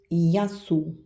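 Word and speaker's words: γεια σου: Et gamma avec epsilon, avec E, ça se prononce pareil comme Y. Y. Ici, exemple, yasu.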